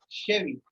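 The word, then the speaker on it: cheveux: So pronounced as Chevy. Okay. Double I, yeah. CH is pronounced as S and double I, E, or double I, you can say, is not spoken here.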